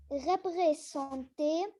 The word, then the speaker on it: représenter: Ils peuvent aussi représenter. Représenter. Représenter. Le S, tu le prononces Z parce qu'il y a deux voyelles.